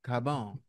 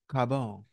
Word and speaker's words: Carbone: it like you're Italian Carbone you gotta say it right don't just say Carbone we know it's Carbone you gotta say it like you're Italian Carone and do like this